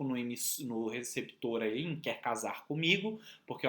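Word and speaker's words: Quasar: Que faz essa brincadeira com o nome do perfume, que é casar, né? Mas é Q-U-A-S-A-R, mas a pronúncia é casar.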